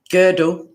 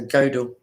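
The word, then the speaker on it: Gödel: person is kurt friedrich uh girdle it's g o with the numla d e l so godel goddell anywho he was born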